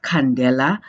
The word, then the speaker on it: candela: really being called a candela and it's pronounced candela as if it is khan leila in and basically it